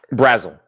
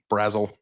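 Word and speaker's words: Brazzell: Um I don't know how to pronounce Chris Basil's name. Is that correct? Brazle. Brazle.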